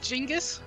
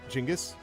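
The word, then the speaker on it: Chingiz: Couldn't it just be pronounced Jingis? Chingis. Yeah. Does this guy look to you like Jingus or does he look like Chingis?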